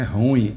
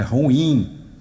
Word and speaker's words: ruim: passada eu aprendi que palavra correta não é ruim é ruim ruim ruim e nunca mais vou esquecer a pronúncia ruim então abençoado meus amados